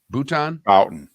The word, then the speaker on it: Bouton: Bouton.